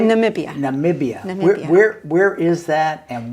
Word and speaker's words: Namibia: Then we went to Namibia and Borneo.